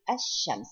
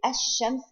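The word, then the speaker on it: الشمس: If we say Ash-Shams, here it is not pronounced at all.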